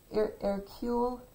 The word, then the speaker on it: Hercule: an episode of well you don't say the h like it you're supposed to say air q but it's spelled h-e-r c-l-c-u-l-e-s like hercules but he's belgian and